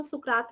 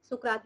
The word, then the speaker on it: सुकरात: हिंदी में इसको इनको सुकरात भी कह सकते हैं. ठीक है, और वैसे सोक्रेट भी कह सकते हैं, that is different pronunciation in English and Hindi. सुकरात हिंदी में कहते हैं, पर्सन का नाम है वैसे.